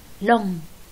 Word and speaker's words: long: عنا هاي الكلمة مثلا long، الجي لا تلفظ، تلفظ بغنة long.